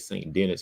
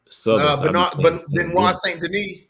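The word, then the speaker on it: Saint Denis: his name son Denny it ain't St Dennis you know I'm St Denise yeah St Denise yeah yeah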